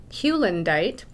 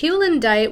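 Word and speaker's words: Heulandite: Some of them are in containers all over the place, but this first one here is called Hallandite. I'm going to try to pronounce it correctly. Hewlandite. It's Hewlandite with stilbite.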